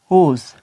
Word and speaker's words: whose: अब एच के बारे में अगर मिसाल दें, WHOSE, होस। अब देखें कि यहाँ पे W साइलेंट है, यहाँ पर भी साइलेंट है, यहाँ पर भी साइलेंट है।